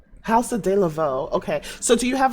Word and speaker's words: Haus De La Vaux: Uh, D Lavo. Is that how you pronounce it? It's House of Deavo. House of Deavo.